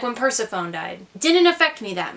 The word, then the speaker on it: Persephone: didn't oh oh also Persephone is actually pronounced Persephone which I didn't know for the longest time